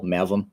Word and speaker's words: Mavim: So despite the proper pronunciation you had, can you tell us how to spell Mavim, just so they can learn more about you?